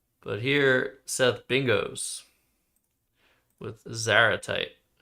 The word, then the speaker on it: zaratite: But here, Seth bingos with Zaratite. You'd pronounce like antipode.